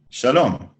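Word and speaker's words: שלום: notes if you want shalom note the stress the large the capital letters are where the word is stressed it's shalom i want a new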